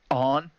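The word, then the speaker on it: Ane: It's on, right? It's Is that on. how you say it? Yeah, it's on.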